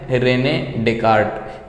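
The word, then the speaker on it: René Descartes: तो जो पहले हैं जिनका नाम है रेने डेकार्ट। यहाँ पे एस जो है साइलेंट है, समझ में आ गया?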